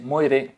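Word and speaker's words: moiré: un po di humor e si pronuncia così muore muore insomma ci siamo capiti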